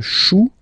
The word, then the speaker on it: chou: Then, un chou. Okay, remember, when you combine this C and H, you get the sound sh.